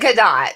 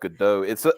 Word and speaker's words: Gadot: Also, isn't her name pronounced Gadot? I thought so too, but everybody I've ever heard talk about her say Gadot. So yeah. Gadot is the European. Gadot is, I think, the Hebrew.